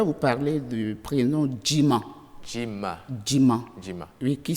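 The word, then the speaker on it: Djiman: ve je vais vous parler du prénom diim Jim Jim Jim oui qui s'écrit DJ i m a n ok un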